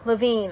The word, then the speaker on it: Lavine: I still don't know if I'm going to be Lavine. I said it right. Okay, yes. Said it right the first time.